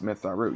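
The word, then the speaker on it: Mitth'raw'nuru: It's pronounced Myth Raru. Yes, Myth Raru.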